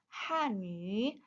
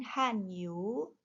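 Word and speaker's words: Hànyǔ: Jadi kita bacanya hanu bukan hanyu.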